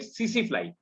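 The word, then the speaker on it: tsetse: We write TC flies, TSE, and we pronunciate it CC fly.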